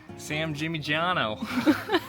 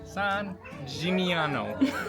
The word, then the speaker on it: San Gimignano: Sam Gimignano. No. How do you say it? Come on, say it. Sam Gimignano. San San G G Mi Jimmy Ñ. Yeah. No. San Gimignano.